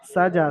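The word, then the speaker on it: سَجَىٰ: ওয়াল্লাইলি ইযা সাজা, সিনের উপর হারাকাত, জিমের উপর খারা যাবার, খারা যাবার আলিফ মাদ্দার সমতুল্য, সুতরাং জিমকে এক আলিফ পরিমাণ, খারা যাবার টান। জিমকে এক আলিফ পরিমাণ আলিফ মাদ্দার মতো এক আলিফ পরিমাণ টান দিয়ে পড়তে হবে।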